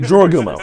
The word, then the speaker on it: Jorogumo: Jorogumo.